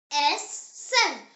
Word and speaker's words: essen: E, pronounced as A, like the E in the English word bed. The example word is essen.